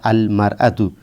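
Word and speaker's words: المرأة: মারাতু শব্দটা হচ্ছে মুনাদা আসল ছিল ইমরাতুন ইমরাতুন এর আগে আলিফ লাম যুক্ত হলে ওই শব্দের উচ্চারণ হয় আলম মারাতু যাই হোক আলিফ লাম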